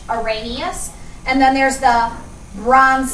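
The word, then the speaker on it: Arrhenius: of those theories there's the oranus theory that's how this word's pron pronounced oranus and then there's the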